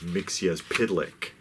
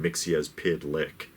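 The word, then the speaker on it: Mxyzptlk: all people or all characters the death of mixia's pidlick which is the original pronunciation of the name Mixie as PID lick four syllables because I know people are always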